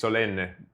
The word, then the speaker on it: Solenne: So everybody, we're here with Solenne. Did I pronounce it correctly? Yes, correct. Okay. But it's Solenne. Solenne. Yeah, because it's Italian, so Solenne.